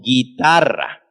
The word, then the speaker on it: guitarra: desde cuando para que la u es muda porque está al lado de la gue o de lage con una vocal suave laila y decimos guitarra guitarra y no pronunciamos la bueno eso es en